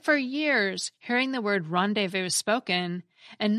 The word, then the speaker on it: rendezvous: the same word as rendez-vous that you'd read in books? The rendez and the vus have a silent Z and silent S, respectively, because that's how they're pronounced in French.